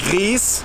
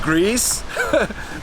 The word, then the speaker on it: Gries: We're getting closer to the village of Gries, not Gries, but you can pronounce it very differently.